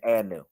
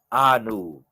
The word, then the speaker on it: Anu: You might mistake from me saying Anu. I'm not saying Anu. I'm pronouncing it a whole different way. All right. One of the names of the Most High would be Anu. Anu. Ah and Nu.